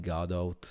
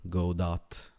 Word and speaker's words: Godot: at the moment uh some people call it God out or God do it's I think the pronounce is whatever you like from According from the lead developer of godo but uh that's